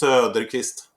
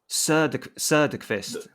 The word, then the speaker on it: Söderqvist: I know it's a bit hard with the O with the dots. Yeah. So you have to go more You put your so it's Söderqvist. Söderqvist. There you go.